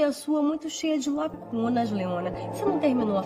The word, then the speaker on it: lacunas: Eu achei a sua muito cheia de lacunas, Leona. Você não terminou a faculdade? Lacunas, bem... quase não se percebe o S final.